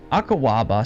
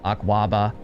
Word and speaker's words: Akwaba: Dating back to the 19th century, Akawaba, sometimes pronounced Akwaba or Akuba, are wooden ritual fertility dolls from the southern region of Ghana and West Africa and nearby areas.